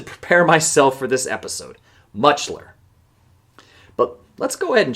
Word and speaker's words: Mutscheller: when you look at it, it's hard to pronounce. I had to practice it multiple times just to prepare myself for this episode. Mutchler. But let's go ahead and change that right now. James Francis Mutchler was born on March 31st, 1930, in Beaver